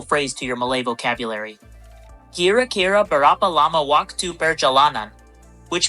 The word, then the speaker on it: kira-kira: Remember, kira-kira is pronounced kira-kira.